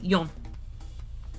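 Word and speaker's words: よん: So the initial pronunciation for four is she, which is also the word for death. Um, so normally when you're counting in Japanese, you say four as yon. Y O N. Yon.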